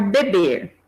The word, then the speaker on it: bebe: tenho bebo o verbo beber né então vamos olhar para esse e Zinho aqui um e é pronunciado como fechado beber bebo mas em algumas palavras em algumas flexões ele é aberto bebe né ele já é